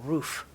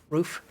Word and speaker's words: RUF: There's a car made by a company called Roof, R-U-F. Roof, I think it's pronounced.